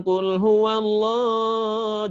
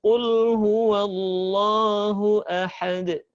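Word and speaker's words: قُلْ هُوَ اللَّهُ أَحَدٌ: Jadi bacanya bukan kul huwallah, jangan, tapi cukup kul huwallahu ahad.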